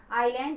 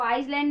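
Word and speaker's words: island: आईलैंड, इसको आइसलैंड नहीं, इसको आईलैंड कहते हैं, एस साइलेंट होता है, वॉवेल साउंड एन लगेगा।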